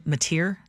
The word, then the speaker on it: Mateer: one involving former Washington State University quarterback John Mateer. Do I pronounce that correctly?